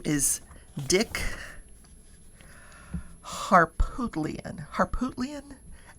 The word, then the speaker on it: Harpootlian: His name is Dick Harpootlian. Harpootlian? Harpootlian.